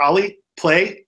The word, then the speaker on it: Ollie Plé: guest Oliver how do you say Oliver Oliver ollie play please my my name is Oliver and my